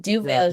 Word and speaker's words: Duverger: Duverger. Duverger.